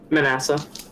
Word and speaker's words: Manasseh: do you say it manasseh manasseh okay so it's like the second manassas but vanessa gotcha yeah okay i've